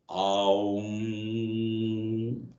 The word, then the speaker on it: Om: So the Om is made of 3 syllables, A, U and Ma. That is why when you say Om, Aum, A, U, Ma together forms the sound Om.